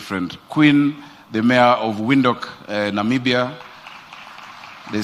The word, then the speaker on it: Windhoek: Oh, of course, my very good friend, Queen, the mayor of Windhoek, Namibia. They say Windhoek. We need to learn how to pronounce it.